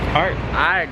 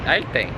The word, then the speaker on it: arte: But yeah, let's go look at some art. Art. How do you say art in Spanish? Arta. Art. Arte.